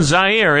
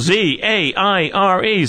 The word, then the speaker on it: Zaire: We're here in Zaire. It's spelled Z-A-I-R-E. Some would pronounce it Zaire. They're wrong.